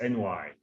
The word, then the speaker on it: NY: It's NY. NY. All right. I've been saying it wrong. I've been mispronouncing. Yeah, a lot of people do as well. Yeah, sometimes we say InsurTech New York ourselves, but officially it's NY.